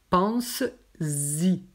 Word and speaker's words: pense-y: Donc, pense-y. Et ça se prononce avec un Z. Pense-y.